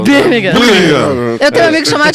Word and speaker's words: Birmingham: Porque você pronunciou errado. Os ingleses falam. Birmingham.